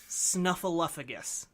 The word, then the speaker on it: Snuffleupagus: I'm going to continue saying Snuffleupagus.